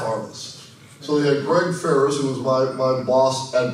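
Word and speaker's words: Faris: all answered to Paul Ferris. And by the way, even though their names are pronounced the same, completely different spelling, no relation whatsoever. Which was kind of weird. Paul Ferris, Greg Ferris.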